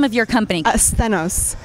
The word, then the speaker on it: Sthenos: Asthenos. It's the Greek name for strength.